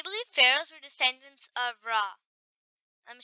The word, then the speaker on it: Ra: Pharaohs were descendants of Ra um it says re but I like to call him raw because that's another way to pronounce his name the sants of raw